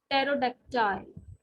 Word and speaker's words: pterodactyl: is silent in this pt in pterodactyl or t is sorry p is silent in this ps and